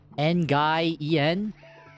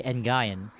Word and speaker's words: Nguyen: Nguyen? For the longest time, I'd always say Nguyen. Or Gian or something? I don't know. English is weird. Someone actually corrected me. Like, no, just pronounce as a win.